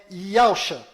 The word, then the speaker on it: Yahusha: O verdadeiro nome do Messias está do lado direito da sua tela e a pronúncia dele é Yahusha.